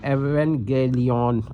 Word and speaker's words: Evangelion: Actually in Greek J sound is not present. So one may read Evangelion and Evangelia.